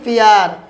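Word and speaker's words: peer: দেখুন ভিউয়ার্স, ইংরেজি ওয়ার্ডের মাঝে ডবল ই এবং শেষে আর থাকলে আমরা ডবল ই উচ্চারণ এখানে ইয়া করব।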